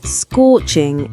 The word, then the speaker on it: scorching: For pronunciation, focus on the O sound in scorching and pouring. It's a long, strong O sound.